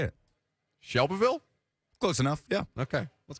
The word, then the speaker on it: Shelbyville: Shelbyville? Close enough. Yeah. Okay. Let's go to Nick. Hello, Nick. Hey, guys. You got to pretend like you got rocks in your mouth and say it like shovel.